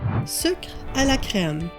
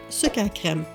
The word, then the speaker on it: Sucre à la crème: Sucre à la crème, or like I grew up pronouncing it, sucre à crème.